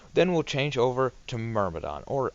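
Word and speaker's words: Myrmidon: we'll change over to murmidon or I think it's actually pronounced mirmadon but I've never pronounced it that way so it's kind of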